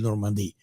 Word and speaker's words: Normandie: Por supuesto que Normandí se pronuncia en francés, pero yo ahí te lo dejo, ¿no?